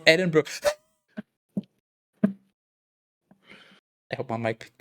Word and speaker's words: Edinburgh: Or how a lot of foreigners pronounce it. Edinburgh. I think it's actually pronounced Edinburgh.